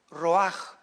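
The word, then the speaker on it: רוּחַ: Pero la ch se pronuncia en hebreo como j. Entonces es roj. Roaj, espíritu en hebreo.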